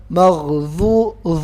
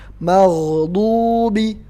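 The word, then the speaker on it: مغضوب: Ingat, lidah nggak boleh keluar. Kenapa? Karena do yang nggak ada tongkat. Nah, itu bacanya tempat keluarnya di lidah bagian tengah yang pinggir. Bukan di ujung lidah. Jadi lidah nggak boleh keluar. Maghdubi, bukan maghzu, nggak ada angin yang keluar ya.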